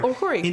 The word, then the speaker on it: Okorie: Like Irish, but not Irish, right? Yeah, like Okorie. Okorie, yeah.